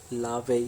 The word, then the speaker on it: La Vie: today we are talking about अ मूवी name लावे and rose so without wasting अ time let's